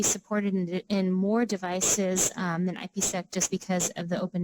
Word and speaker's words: IPsec: Does Moxa see more people using OpenVPN or IPsec? I don't know if I pronounced that right.